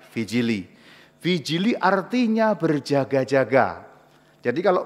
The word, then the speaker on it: vigili: Yang benar, yang persis benar adalah namanya vijili. Tulisannya vigili ya. V I G I L I. Dibacanya vijili.